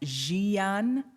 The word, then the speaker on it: Jian: good morning everyone again my name is jian it's pronounced zhiyan her pronouns are she